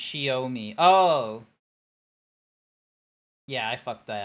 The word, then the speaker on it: Xiaomi: It's Chinese, so it's pronounced Xiaomi.